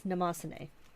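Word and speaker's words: Mnemosyne: Today we are using the Maruman Namosane, and I know how to pronounce that because I learned, and then I always forget, but it's Namosane, in case you're ever wondering.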